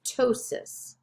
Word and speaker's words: ptosis: phobia plasia plasti ptosis when you have p in front of a t you don't pronounce the p you just pronounce the t so this is ptosis rhea watch out for